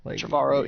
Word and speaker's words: Trevorrow: Trevorrow, yeah.